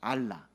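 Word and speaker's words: ἀλλά: 저걸 어떻게 읽을 수 있냐면 알라입니다. 알라. 여러분 저기 옆 동네 이슬람에서 섬기는 그 우상신 알라랑 발음은 똑같지만 전혀 같은 단어 아니에요.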